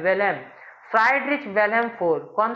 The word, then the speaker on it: Wilhelm: कर लो, फ्राइडरिच विलेम, विलेम है, विलियम नहीं है, विलेम, WILHELM, विलेम, फ्राइडरिच विलेम four.